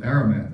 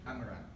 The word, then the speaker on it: Amaranth: joined the Order of Aramat. I hope I'm pronouncing that correctly. Was that close? Close. No. Close. How was that? How should I pronounce it? Amaranth.